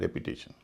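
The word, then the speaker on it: repetition: रेपिटेशन, दोहराव, इसमें भी TION से पहले 3 वावल हैं, उच्चारण हो रहा है रेपिटेशन।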